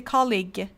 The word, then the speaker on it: colleague: this word um U is silent so e is silent you say colleague okay neighbor G and H are silent classmate